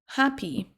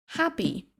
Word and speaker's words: happy: On a ensuite happy. Happy heureux, heureuse. Prononce bien le H en début de mot et accentuer la première syllabe.